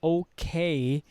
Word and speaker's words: okay: So the okay, we unstress the first syllable, which is O.